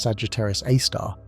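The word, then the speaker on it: Sagittarius A*: Scientists call it Sagittarius A, pronounced Sagittarius A star.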